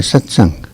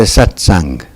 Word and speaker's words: satsang: know what is a satsang as opposed to just a talk now we need to look at the again at the meaning of the word mmm two syllables sat and sang sang sung sucked the